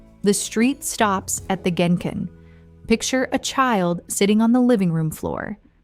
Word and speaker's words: genkan: They stop at the genkan, pronounced genkan.